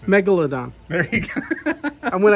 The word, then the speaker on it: megalodon: do you pronounce this again how do you pronounce it megalodon there you go and when i got a